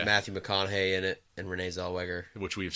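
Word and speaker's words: Renée Zellweger: stars Matthew McConaughey and Renee Zellweger. So you didn't even say her name right that time. What did I say? I thought you said Renelle.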